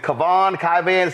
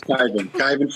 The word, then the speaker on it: Kyvan: First off, is it Kavan? Pronounce it, please. It's Kyvan Foods.